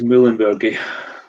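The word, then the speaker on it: muehlenbergii: How would you pronounce that, Alistair? Quercus Muehlenbergi.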